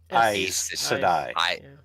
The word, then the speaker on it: Aes Sedai: It's like, oh, like remind me again how to pronounce nonsense. Which one? Aes Sedai.